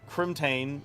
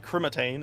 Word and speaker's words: Crimtane: Crimtane, but I used to call it Crimatane.